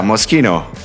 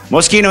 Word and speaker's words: Moschino: So yeah, Moschino. Moschino is the correct version.